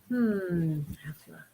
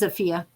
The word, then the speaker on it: Afia: Afla. How do you say that? Afia? Oh, maybe it is Afia. It looks like an L, but Yeah, Afia. it does. You're right. It's an I.